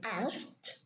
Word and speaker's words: asked: When it's by itself, just one word, we say asked, so the K is deleted.